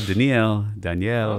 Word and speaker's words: Doniel: Doniel? Dude, it's like, who am I talking to? In modern Israel, Daniel.